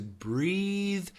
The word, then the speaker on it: breathe: Breathe has a vibrated TH.